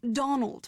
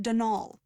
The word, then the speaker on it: Donal: the caretaker denol Delaney not Donald mind you there's no D at the end so it's pronounced denal that's the way you're